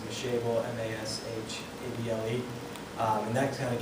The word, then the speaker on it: Mashable: I think it's pronounced Mashable, M-A-S-H-A-B-L-E.